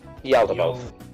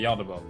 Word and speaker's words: Yaldabaoth: How do you pronounce his name? Yaldabaoth. Yeah. Okay, Yaldabaoth.